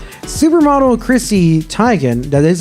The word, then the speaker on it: Teigen: Now, I have been told it's pronounced Teigen. Like, that's the way that she pronounces it. But I know most people know it as Teigen.